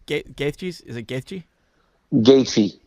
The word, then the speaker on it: Gaethje: It was weird because I don't know how do you pronounce Gaethje? Is it Gaethje? Gaethje, Gaethje.